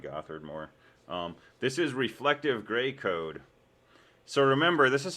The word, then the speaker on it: Gray code: starts with a g it rhymes with rey gray code perfect first try um